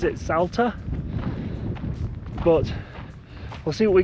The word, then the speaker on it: Salta: It's taken us 5 hours to drive here from, I think they pronounce it Salta.